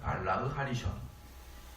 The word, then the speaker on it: 발라흐 하리숑: 여기서 전부는 전 남편, 후부는 후 남편인데, 이 전부의 히브리어 발음은요, 발라흐 하리숑입니다. 발라흐 하리숑.